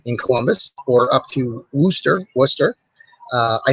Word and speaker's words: Worcester: sometimes uh totally say wooster and a lot of folks who aren't familiar with worcester uh see the spelling it's spelled like rooster and so they'll say wooster so that's in honor